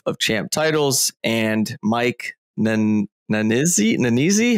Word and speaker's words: Nannizzi: So today we have Shane Bigelow, founder and CEO of Champ Titles, and Mike Nannizzi? How am I pronouncing that, Mike? It's Smith, actually. Nannizzi. Nannizzi.